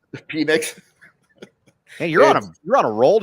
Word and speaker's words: Penix: Yeah, the quarterbacks, it's Williams, it's Penix. Penix? Penix. Hey, you're on a roll today. No, it's always Penix to me. That's how you pronounce it.